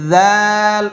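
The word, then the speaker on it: ذال: খালি এরপরে হরফটা হচ্ছে জাল নরম জিহ্বার আগা যেভাবে আমি আগের হরফটা বলেছিলাম জিহ্বার আগায় হালকা একটু কামড় দেন ওইখান থেকে উচ্চারণ করবেন জাল এমন না জাল এমন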